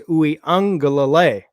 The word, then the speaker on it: Uiagalelei: That's how I know it's correct, because he said himself it was Uiagalelei.